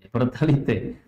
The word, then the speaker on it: Pertalite: Bacanya Pertalite ya? Pertalite.